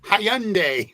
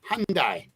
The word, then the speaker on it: Hyundai: it is or is my sister calls it Hyandai Hy Lori it's the why is silent it's Hyundai Hyundai Hyundai whatever but it's not Hyandai Hyandai that's a that's